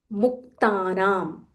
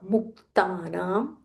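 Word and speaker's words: मुक्तानाम्: Putatma, Putatma, Paramatma cha, Paramatma cha, Putatma, Paramatma cha, Muktanam, Muktanam. Stress on that half ka. Muktanam, Paramagatihi, Paramagatihi.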